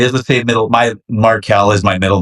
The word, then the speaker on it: Markell: My Markeel is my middle name. I just spell it different cuz wrestling fans would pronounce it Marcel.